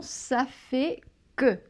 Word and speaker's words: ça fait que: Quatrième expression, ça fait que. Ça fait que, oui. Alors là, évidemment, il y a fait dedans. Là, on Oui. ne prononce pas le T.